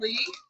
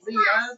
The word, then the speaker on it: Lea: I'd like to introduce Lee to you. If you forget, when you see your name tag, it looks like Leah, but if you remember T, it rhymes with Lee.